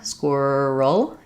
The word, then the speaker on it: squirrel: see how that happens because there's a vowel letter there, squirrel, 2 syllables.